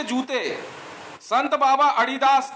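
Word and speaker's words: Adidas: संत बाबा अडिदास के नाम पे बनी हुई कंपनी पैरों में एडिडास के, एडिडास ही बोलते हैं वैसे, अडिदास होता है, रियल उच्चारण अडिदास है।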